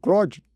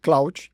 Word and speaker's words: Claude: sobre ele que é: alguns chamam de Cloud, você ouvirá aqui hoje falarmos sobre o Cloud, outros chamam de Claude, a pronúncia do do do do do de acordo ali com o idioma, mas outros também eh